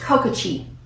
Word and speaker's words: Kokachi: And this is pronounced Kokachi.